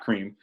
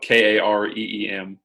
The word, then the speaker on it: Kareem: Kind of a Kareem, not cream, because it is spelled Kareem.